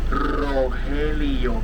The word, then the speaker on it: Rogelio: And also you gotta roll the R when you pronounce my name, Rogelio.